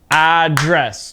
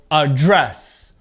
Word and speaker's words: address: my pronunciation so remember two syllable verbs address two syllables now with the verb the stress is on the second part of the verb okay so address address okay a dress